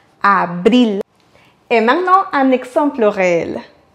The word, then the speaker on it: abril: Comme vous avez bien compris, on va prononcer ici le R simple car il est au milieu du mot. Avril. Et ensuite, on va accentuer sur le I. Abril.